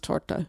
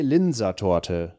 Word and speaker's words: Linzer Torte: So I know that it's pronounced torta, but I'm torta, never going to say that. But American would say torte.